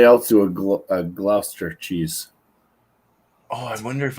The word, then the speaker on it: Gloucester: regular gouda or whatever but he has a gloucester there and i didn't i don't know if i can find is that how you say it gloucester yeah gloucester glooster yeah glooster i don't know if i can